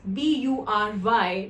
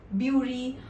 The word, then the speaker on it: bury: Coming to the word, it is spelled as B-U-R-Y, because of which people often pronounce it as Bury or Buri or Buri.